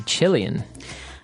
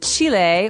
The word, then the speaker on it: Chile: a Brazilian and a Chilean okay so Brazil Brazilian in this country there are many Brazilians and Chile or Chile as many Americans say um has people called